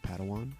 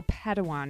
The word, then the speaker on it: Padawan: I believe it's pronounced Padawan. Oh, Padawan, excuse me.